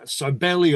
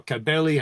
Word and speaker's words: Cybele: the Anatolian mother goddess Cybele or Cabeli, however you want to pronounce her name.